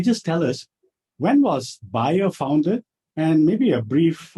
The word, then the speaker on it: Bayer: uh bayer is actually buyer yeah it's a german player it's a german company so uh the correct one is is buyer yeah i mean there's a lot of other pronunciation like bayer which is a little